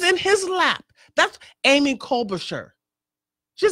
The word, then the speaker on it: Klobuchar: think it was Amy Colbert, how do you pronounce her name? Klobuchar or something like that. She represents Minnesota. She said, this Caravan problem is Trump's. This is in his lap. That's Amy Klobuchar.